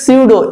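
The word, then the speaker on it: pseudo: তারপরে দেখো সিউডো, সিউডো পি প্রথমে রয়েছে কিন্তু উচ্চারিত হচ্ছে সিউডো এস দিয়ে, সিউডো কথার অর্থ হলো ছদ্ম, যেমন বলি আমরা সিউডোনেম অর্থাৎ ছদ্মনাম। এইরকম দেখো কিছু কিছু ওয়ার্ড রয়েছে যেখানে কি হচ্ছে পি টোটালি সাইলেন্ট আছে, কিন্তু বানানোর ক্ষেত্রে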